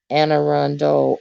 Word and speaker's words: Anne Arundel: get your next next best version oh it's pronounced and anne arundel oh okay is that always pronounced okay and